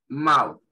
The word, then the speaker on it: mouth: Tenemos aquí la palabra, a la izquierda tenemos la palabra que ahí resalté, mouth, mouth. Esa TH se pronuncia como una Z muy suave, ¿sí?